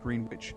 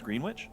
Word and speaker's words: Greenwich: pronounced in Massachusetts it's green witch yeah yeah they don't say it's actually green wi it's not Greenwich so in Mass Massachusetts it seems to be with a with a W in there but even if you